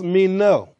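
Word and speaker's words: μένω: one word continue then the greek is the word mino somebody said meno now that don't mean you know amen but uh that's how it's pronounced mean no now this word has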